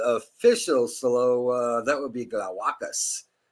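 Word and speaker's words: Glawackus: So that would be Glowacus, because the accent is on the second to last syllable in Latin languages. So it's Glowacus.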